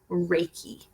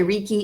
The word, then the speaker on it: Reiki: e I K I Reiki so some people say rekey it's Reiki the Reiki is just